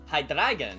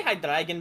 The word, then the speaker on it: Hydreigon: And a Pokemon I have heard so many pronunciations for. Hang on, which one is that? Hydreigon, yes. Yeah, I've heard Hydreigon, I've heard Hydreigon, I've heard Hydreigon. Hydreigon. Yeah. I say Hydreigon because it's just more fun to say.